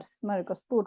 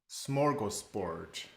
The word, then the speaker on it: smörgåsbord: But Stefan, how do we actually pronounce the word smörgåsbord? What should we think about when we say this? Because I often hear it a little bit differently when it's used in English. Smorgasbord. Smörgåsbord. Smorgasbord.